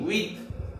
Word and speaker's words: huit: and French but the pronunciation is C's SIX pronunciation C's 7 SEPT SAT SEPT SAT 8 HUIT with HUIT with 9 NEUF NAF 9 NEUF NAF and 10 DIX this.